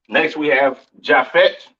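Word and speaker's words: Japheth: right next we have jaffet all right or javet some people like to call it right um pronounce Yap in Hebrew these are your so-called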